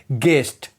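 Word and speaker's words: guest: अगर यू जी और किसी भी वोवेल के बीच में हो तो यू साइलेंट होता है। एग्जांपल गेस्ट यहां पर यू जी और वोवेल के बीच में है। इसीलिए यू साइलेंट रहेगा।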